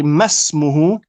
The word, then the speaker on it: ما اسمه: This is known as hamzatul wasl, which means you only pronounce it at the beginning of not a lesson, at the beginning of a sentence. Okay, so here we should say masmuhu. We completely drop it in pronunciation.